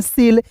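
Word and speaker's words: cell: E double L तो इसे बहुत लोग केल पढ़ देता नहीं दोस्तों इसे पढ़ेंगे सेल क्यों क्योंकि देखिए यहां पे सी के तुरंत बाद क्या है दोस्तों इ है तो सी का उच्चारण स के रूप में करेंगे डबल एल का उच्चारण ल के रूप में और इ है तो इसका उच्चारण ए के रूप में सेल हो जाएगा सेल मींस क्या होता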